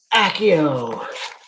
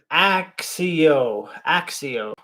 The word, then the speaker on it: Accio: Actually, this says accio, or accio. I just say accio. Sometimes I say accio.